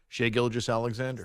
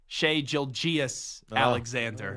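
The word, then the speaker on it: Shai Gilgeous-Alexander: do it for me how' you say his name Shay gilis Alexander nice it's nice to hear an update anchor here at CBS Sports Radio say his name correctly so why well how do people there there was a younger update anchor that say sheay Jil gias Alexander or something like that nope nope no nope no no a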